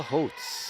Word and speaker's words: Holtz: Leah Holtz, I believe that's how you say it. Yes. Leah helped us by rhyming Holtz with oats.